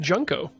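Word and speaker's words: Junco: Well, now I'm learning it's pronounced Junko. Not unlike the jeans.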